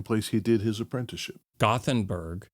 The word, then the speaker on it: Göteborg: Gothenburg. Göteborg.